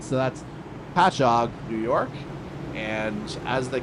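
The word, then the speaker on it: Patchogue: And it turns out I actually did do the prep work on Almani's hometown pronunciation. So that's Patchog, New York.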